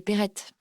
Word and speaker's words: Peretti: pas d'accent sur le parce que c'est Corse donc c'est prononcé à l'italienne un petit peu on va dire à la Corse parce que comment ça fait à la Corse c'est Perette okis le tenter la